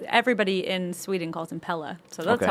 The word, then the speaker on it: Pelle: a lot of times you And I would- also like how you say it because that's how the Swedes say it, which is how I'm saying it. But some of them call him Pell, and Oh. Danny calls him Pelle.